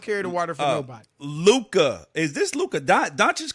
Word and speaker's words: Luca: now my uh my name is actually spelled l-u-c-a so okay okay but is it pronounced luca though yeah i appreciate the love